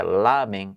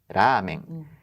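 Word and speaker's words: ラーメン: de L que comentamos não é é lamen mas sim Ramen e também não tem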